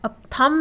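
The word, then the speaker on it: thumb: रहा है साइलेंट है उसी तरीके से थंब थंब यानी अंगूठा थंब में भी एम के बाद क्या ए रहा है बी ए रहा है और बी के बाद कोई भी अक्षर नहीं है तो यहां पर भी जो बी है वो साइलेंट है यानी की है तो लेकिन वो बोला नहीं जाएगा तो हम क्या बोलते हैं थंब बोलते हैं हम थंब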